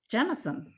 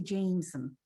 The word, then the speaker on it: Jennison: and we're meeting jennison it's interesting because i always have a problem with americans pronouncing your name they always want to say jameson i i can't hear